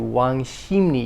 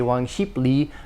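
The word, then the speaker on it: 왕십리: seoul called wang shini which is spelled wang sheep li but the bip and the real blend together to wang shimni you don't say wang sheeply wang shimni or in busan i'm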